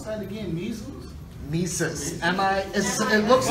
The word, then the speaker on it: Mises: Mises. M-I-S. It looks like Mrs. It looks like it says Mrs., yeah. But it's Mises.